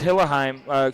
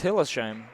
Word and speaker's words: Hillesheim: Fouled on the way up, I believe, was Hillesheim. That's Hilsheim.